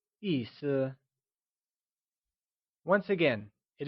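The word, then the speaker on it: 意思: pronounced using a falling tone and Sur is pronounced using a neutral soft fading tone the word meaning translates to Issa can you try and say Issa once again it is said as Issa good job boo how Issa is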